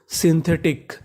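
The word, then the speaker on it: synthetic: SY को पढ़ते हैं हम लोग शी, यानी अगर आपको इंग्लिश में कहीं पर SY लिखा मिला है तो उसका उच्चारण सी करना है। और आगे हमारा N तो ये आधा हो गया हमारा सिन। THE इसे पढ़ेंगे थे, सिंथे, TIC टिक, सिंथेटिक, सिंथेटिक।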